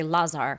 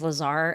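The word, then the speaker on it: Lázár: In Hungarian, you say Lazar, but I'm just going to go ahead with Lazar. I I think that's probably how most people in the United States are pronouncing it.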